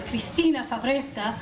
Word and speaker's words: Christina: to be nitpicky but my name is christina and if i were to pronounce it correctly it would be cristina but not only that